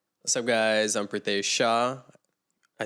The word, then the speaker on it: Pritesh Shah: Guys, I'm Prateesh Sha.